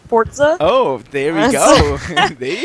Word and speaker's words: Forza: It's a It's actually pronounced Forza.